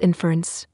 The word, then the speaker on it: inference: let's run this cell it is pronounced inference you put the wrong emphasis on the wrong s aable interface opened